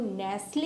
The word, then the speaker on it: nestle: इस वर्ड की जो राइट प्रोनाउंसिएशन है वो है नेसल, like कैसल, the same is नेसल।